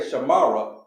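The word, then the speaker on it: שמר: But we don't say shamara, we say shamar. Right? We're going to drop that ah sound at the end of this word.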